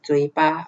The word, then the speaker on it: 嘴巴: And in Cantonese, 广东话呢 is 嘴巴。Okay, 嘴巴。It sounds like the Chinese word 嘴巴, okay, but the tone is different. Okay, 这个广东话的嘴巴呢跟华语的是很像，可是声调不一样。Okay, you all listen carefully.